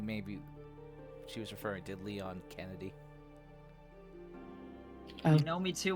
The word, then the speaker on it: Leon: First of all, my name is Leon, not Lion.